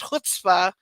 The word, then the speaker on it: chutzpah: a word that, A, it's in another language, because that's Hebrew, and, having a silent letter when you don't know how the conjugations work in literally another language, totally legit reason for not understanding that something that is spelled like that is pronounced chutzpah.